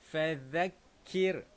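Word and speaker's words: فذكر: Baik, tuan-tuan, sama juga pada huruf zal ini kita kena baca dengan keluarkan lidah. Okey. Macam mana cara bacaan dia? Fadzakkir.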